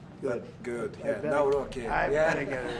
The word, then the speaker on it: Nawrocki: better- Nawrocki.